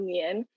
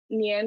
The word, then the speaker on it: nian: this creature a mythical a mythical beast called nian which is spelled n-i-a-n and it's essentially the name of